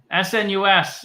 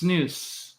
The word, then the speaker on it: snus: snuff so this is snus is pronounced snoo not Snus I did say Snus